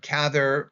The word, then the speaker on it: Cather: Um just something that I may make a mistake myself uh about but um the pronunciation of gather is like rather or gather.